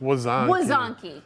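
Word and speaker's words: łazanki: So this is Lazanki. So it's kind of Lazanki? Lazanki. Yeah, so it's spelled with an L, but you don't actually say it like an L.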